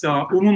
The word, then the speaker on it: Humo: They can find me as Humo. You spell it Humo, which is humo, which means smoke in Spanish, and, like the Mayans.